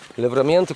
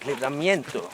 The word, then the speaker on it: Livramento: Livramento community. I don't know what can be said about this community. That we pronounce it livramento and not livramiento.